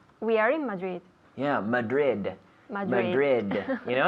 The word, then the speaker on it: Madrid: Madrid Madrid you know in English we have to pronounce those D's yes Madrid so we have the I have the D with my tongue touching the roof of my mouth behind my teeth Madrid Madrid again Madrid